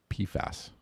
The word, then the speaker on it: PFAS: commonly known by the acronym PFAS, pronounced PFAS, which stands for per and polyfluoroalkyl substances.